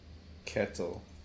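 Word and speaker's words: Ketil: So eventually we get in gets bought by uh this character whose name is uh Kitle. Kettle. How did you pronounce his name? Kettle.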